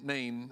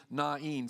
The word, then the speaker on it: Nain: country na I know I spent my whole life calling name I looked a little more carefully at it and really the technical pronunciation would be nain so if you want to sound scholarly around people call it nain little village not too